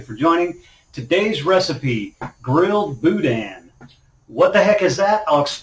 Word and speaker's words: boudin: joining today's recipe grilled boudin what the heck is that i'll explain it all to you let's do this all right so grill boudin b-o-u-d-i-n it's a french word pronounced boudin it's very popular here